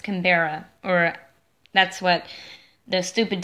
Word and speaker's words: Canberra: I don't know how to pronounce stuff. Sydney, Melbourne, or Canberra? It's Canberra.